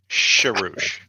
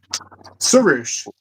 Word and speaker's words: Souch: apologize to him because for the longest time we have pronounced his name Sherouch. Souch. Souch. Yes. Yes, that's the way it is pronounced.